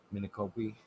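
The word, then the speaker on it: Micanopy: a town and fucking i always say it wrong it's m-i-c-o-p-y it's a town in florida mini copy yeah mini copy yeah that's how you say it his mini copy and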